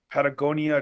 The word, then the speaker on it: Patagonia: Can you take your Patagonia to? Am I saying it right? Yeah. Patagonia is yeah. You said it right.